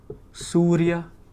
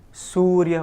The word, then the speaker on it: Surya: And so now we have the third sibilant, which is a sa. Sa. Sa. Very simple. So we have the word Surya. Surya, which means the sun. So sa, sa, right?